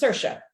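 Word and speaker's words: Saoirse: a o i RS e okay and it's pronounced sersa and I know where do you get that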